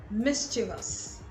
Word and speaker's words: mischievous: This word is pronounced mischievous. Mischievous, not mischievous.